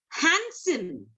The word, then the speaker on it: handsome: Handsome. It's not handsome. It's handsome. HANDSOME.